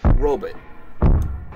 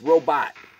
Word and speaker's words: robot: that some old movies the word robot they pronounce it rub it put a butt at the end of it and they emphasize the role it's robot robot robot ok if you're saying